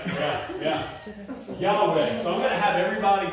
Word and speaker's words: Yahweh: So that is Yahweh. That's how you actually say the name of God. Now, you can call him Jehovah. You can call him Yahweh. You can call him Yahweh. There's a number of pronunciations depending on dialects and they're not wrong, you know.